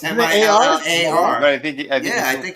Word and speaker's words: Millar: It's Millar. But I think it pronounces is. it Miller.